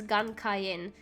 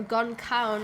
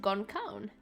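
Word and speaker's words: Gan Ceann: I also use Gun Cayenne, now, or Gon Cawn, as someone in my chat has said. Now, apparently this is the Irish mythological creature, which means no head, Gon Crown, and you pronounce it Gon Cawn.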